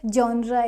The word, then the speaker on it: genre: I love to watch movies and my favorite genre is comedy not J genre next is bowl